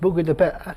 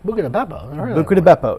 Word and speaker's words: Buca di Beppo: My favorite restaurant is Buca di Beppo. It's pronounced Buca di Beppo. Buca di Beppo.